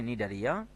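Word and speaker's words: Cnidaria: মুখস্ত রাখতেই হবে তারপরে নিডারিয়া তো দেখো নিডারিয়া বানানটা দেখো এন আই ডি এ আর আই এ তার পূর্বে সি হবে সি নিডারিয়া নিউরোসাইট নামক বিশেষ বৈশিষ্ট্যপূর্ণ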